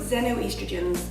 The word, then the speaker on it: xenoestrogens: And things called xenoestrogens, spelled with an X, X-E-N-O.